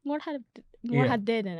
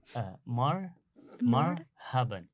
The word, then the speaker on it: مرحبا: Morhaden. I don't know Yeah. what it's saying. Yeah, so it's marhaban. Morhaben. Yes, marhaban.